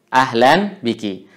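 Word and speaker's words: أهلا بكِ: Atau kalau kita ingin wakafkan juga boleh ahlan bik. Ya, untuk perempuan ahlan bik. Jadi tidak ada persoalan kalau dalam pengucapan kita wakafkan huruf terakhirnya. Kalaupun kita juga baca, maka ini juga tidak ada masalah, kedua-duanya boleh.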